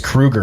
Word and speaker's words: Kroeger: Apparently it's Kruger, and he's just never cared or corrected anyone.